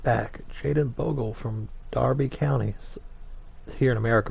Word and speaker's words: Derby: so we've signed the ninth young 19 year old right back jaden bogle from darby counties here in america most of us will pronounce that it's derby but darby county for just a shade